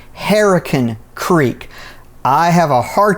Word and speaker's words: Hurricane: out of the way most locals do not call this hurricane they pronounce it herac Creek I have a